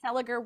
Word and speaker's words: Seliger: properly on the podcast on the podcast Mark seliger we are here to celebrate you and your